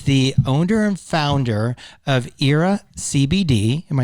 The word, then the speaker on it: Eira: uh she is the owner and founder of era cbd am i saying that correctly yeah and that's spelled e-i-r-a she's going to talk to us